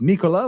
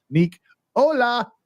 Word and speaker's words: Nicola: her name to bifrons it's Nicola like Tesla Nick Ola that's like hello Nick